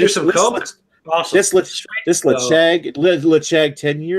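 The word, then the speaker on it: Ledaig: Lechag. That's It Chag. looks like Ledag. Yeah, I know. That's how they pronounce it in Scotland. It's Lechag.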